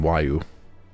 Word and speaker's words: Huayu: If so, Huayu must be made to reveal whose it is. And how she pronounces her name, Wayu.